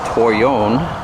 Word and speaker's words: toyon: this the food source the shrub is called toy own spelled tio y ou in toyou know that's how the natives pronounced it this is a pretty decent sized